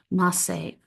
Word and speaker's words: Maaseh: The Masay Merkaba is a significant text in the Merkaba tradition, and if you want to look that up, it's spelled Maaseh, Masay.